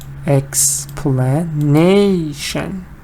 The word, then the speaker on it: explanation: Explain is da-da. Now it's da-da-da-da. Explanation.